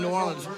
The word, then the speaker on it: New Orleans: He said New Orleans. I don't know. Yeah, I said New Orleans. Yeah, it's Nolans.